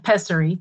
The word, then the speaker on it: pessary: The next question from Amanda is, does a pessary, if I'm pronouncing that right. Okay, good. Pessary.